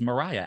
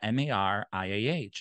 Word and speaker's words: Mariah: But apparently it's pronounced Maria.